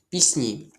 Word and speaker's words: пісні: Чому у цьому слові буде звук сі м'який? Тому що це уподібнення за м'якістю. Це означає, що приголосні із фрази де ти з'їси цілини перед наступним перед наступним м'яким або пом'якшеним стають так само м'якими.